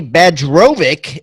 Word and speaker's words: Bajrovic: of Canada here Melanie badge robic is on the line I'm glad I got that pronunciation the Serbian and Bosnian pronunciation of that beautiful name there she is the